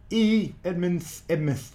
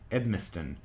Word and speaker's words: Edmiston: Edmonds. I keep pronouncing your last name. I always want to put an N in there. Edmiston.